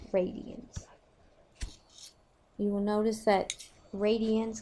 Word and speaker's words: radians: you will notice that radience kind of sounds like the word radius and it is based